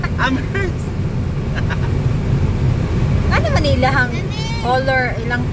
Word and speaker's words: Amherst: Ang Amherst pag pronounce mo kay mura ka nang nangatsing. Amherst. Amherst.